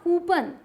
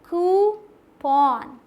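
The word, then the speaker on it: coupon: अब आते हैं ये, इसे क्या बोल देते हैं आप, कूपन। बचपन से बोल रहे हैं कूपन मिला, कूपन मिला, लेकिन क्या है पता है, कूपन, कूपन, कूपन, ठीक।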